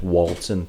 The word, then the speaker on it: Walton: The one in Warrington is Walton, W-A-L, like Walt Disney. Whereas this one is wool, like what you get off a sheep.